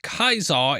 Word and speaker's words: Caesar: It's pronounced Kaisar in the game.